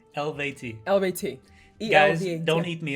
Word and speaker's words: Eluveitie: He says it's pronounced ELUVEITIE. ELUVEITIE.